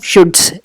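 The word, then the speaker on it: Schutz: एक famous psychologist है, इसमें यहाँ पे विल शुड्स लिखा है लेकिन ये है विलियम शुड्स, एस साइलेंट है।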